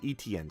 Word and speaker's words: Etienne: No, it's Etienne, Smitty. Let's just spell it out.